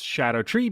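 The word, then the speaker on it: Scadutree: and yes it's pronounced Shadow tree because it uses Old English spelling conventions like ever jail or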